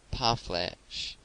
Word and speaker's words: parfleche: The word is commonly pronounced by Americans parfleche, with the accent on the last syllable.